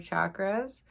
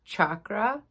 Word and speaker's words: chakra: Joe Dispenza calls them energy centers instead of chakras. The correct pronunciation is chakra.